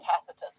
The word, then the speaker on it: Tacitus: The next great historian I want to consider is Cornelius Tacitus Tutus in Latin Tacitus as he's pronounced in English.